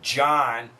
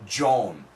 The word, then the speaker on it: John: Canada and almost the UK too we say John we don't say Joan however if you listen to the song Cali